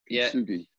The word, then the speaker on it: Kintsugi: And is that pronounced right? Kintsugi.